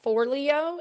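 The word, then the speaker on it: Forleo: I think you pronounce her name for Leo. It's f O R L E O.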